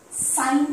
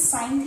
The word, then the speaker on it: sine: In short form, we write this as sine theta. Please don't say sin theta. Yes, because many students I know keep saying that sin theta, don't. Pronounce it as sine theta.